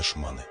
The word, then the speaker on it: Шманы: Это деревня гражданская, местное название Шманы, от старорусского «шман», то есть скиталец-бродяга. Под влиянием местного диалекта ударение в название ставится на последний слог, название произносится как «шманы».